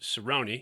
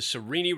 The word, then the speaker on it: Sereni: at the sarini ranch you may keep hearing us pronounce it cerrone because my guide brad mcfall had it in his head it was cerrone but it's the sereni ranch spelled just like that and it is